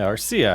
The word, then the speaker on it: Arcia: We got Harris as the leadoff, Madrigal as the second batter, Acuna Jr., Olson, Albies, Riley, Murphy, Arcia? Yeah, Arcia, I said it right.